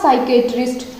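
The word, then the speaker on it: psychiatrist: लड़कियां है साइकाइट्री ठीक है पहले किया था साइकिएट्रिस्ट यह क्या है यह क्या भर कि इसको हम कैसे उच्चारण करेंगे सफेद लिए ठीक है सफेद तिल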